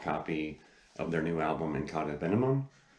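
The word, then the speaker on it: In Cauda Venenum: The vinyl copy of their new album, Incauda Venenum, I think it's actually pronounced. It's Latin, but it's signed by the band, and I love the album cover.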